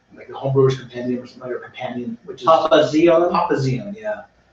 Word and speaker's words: Papazian: Papazian, yeah. How do you spell it?